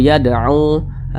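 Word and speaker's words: يَدْعُو: Wallahu yad'u, yad'u, ini dipantulkan lagi, ini cara bacanya dipantulkan. Huruf dal ini dia sukun. Nah, di samping huruf qalqalah itu ada 5, salah satunya huruf dal, maka dipantulkan cara bacanya.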